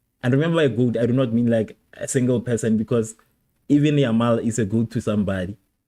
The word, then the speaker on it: Yamal: It's not even Lamine Yamal. People wanted it to be Yamil, whoever he is. Lamine Yamal. That's name. Those syllables are kind of a problem.